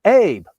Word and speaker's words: Abe: Mr. Abe, right? A-B-E, right? Abe, pronounced Abe.